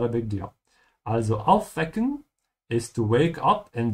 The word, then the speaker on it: aufwecken: Aufwecken. And remember, if you're a beginner, especially, that the W's in German are pronounced like a V.